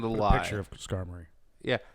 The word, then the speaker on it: Skarmory: i don't care it's scar mori okay it's just super dope if pokemon were real i would never i would have i found out last night that it's pronounced skarmory like an armory i think that makes